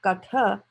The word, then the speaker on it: Katha: If you write it in Devanagari, under the tha, there will be a halant, just a line at the bottom, right? But it doesn't have that. It is katha. So, it's a full tha there.